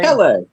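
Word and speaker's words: Pelé: Pelle.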